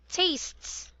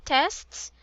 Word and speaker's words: tastes: you read this word it's a long a taste tastes tastes tastes tastes very good not tests but tastes tastes very good so